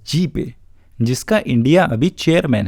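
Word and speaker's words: GPAI: Global partnership for एआई, pronounced as जीपे, जिसका India अभी chairman है, या फिर इसी साल हिरोशिमा G7 समिट में एस्टैब्लिश किया गया हिरोशिमा एआई प्रोसेस।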